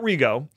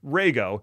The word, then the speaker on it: Rego: expression almost it's not rgo it's pronounced Rego and the easiest way I remember that is to think of a ray gun so Rego is the